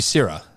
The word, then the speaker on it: Seiridh: No, it is pronounced sherry, but it's spelled very differently. I think you just dropped the D. Sierra? Syrah? Yeah. It'd be Syrah.